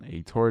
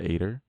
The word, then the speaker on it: Aitor: Because I'm like, I think Aitor, I settled on Aitor, not Ator. I'm like, okay, Aitor. But I'm like, hi everyone, I'm Aitor. Or just, hi everyone, I'm Aitor.